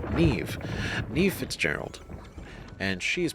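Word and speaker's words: Niamh: I I pronounce it NE right but I heard personal rackam say Neeve and I'm like that's why why is that's not that's spelled only for me to realize that it's actually Irish and that's the the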